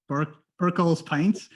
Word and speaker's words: Birchall's Pints: Tell us what BIRCHALL'S Pints is? Or am I even pronouncing it correctly?